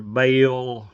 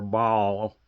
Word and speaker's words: Baal: tell you which is either bale or ball depending on how you want to pronounce it.